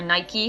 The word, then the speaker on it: Nike: he's the founder of Nike or Nike however you want to pronounce it it is so good